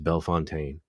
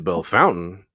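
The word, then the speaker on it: Bellefontaine: in Urbana Ohio and was asked if I knew how to get to Bell Fontaine I you not I said well if you're trying to get to Bell Fountain you just stay on 68 here go north about 16 miles you're there it's B Fountain he's like oh okay okay I've never heard anyone call it belf Fontaine seriously like heard people say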